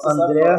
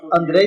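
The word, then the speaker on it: Andrzej: Andrei Sapkowski. O J seria um I? Eu sempre falava André Sapkowski. Então, é igual o Red Sonja. O J você vira aí.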